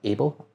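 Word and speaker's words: AYBL: Is it Able?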